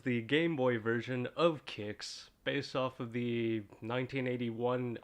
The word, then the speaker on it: Qix: I've just been informed that apparently I've been mispronouncing the name of this game for years I always thought it was called quicks like Nestle Quik quick mix or whatever um but apparently it's called kicks which as someone who knows how to read